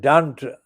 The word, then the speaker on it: Dunt: I mean, Dunt actually rhymes with the C word.